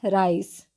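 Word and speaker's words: rice: क्या पढ़ेंगे ऋ से जी नहीं हम इसका उच्चारण करते हैं राइस ओके उसी तरीके से एल आई के ई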